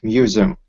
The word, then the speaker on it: museum: And here in this word, the second syllable is really stressed, so it's like museum, museum. Museum. Mm-hmm. Yeah, perfect. So it Okay. kind of sounds like there's a letter Z there in the middle.